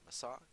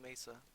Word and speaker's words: Mesa: how to pronounce it some people say my saw kind of like NASA I say Mesa because that makes sense probably it's probably technically called masa masa masa because there's no e and I think when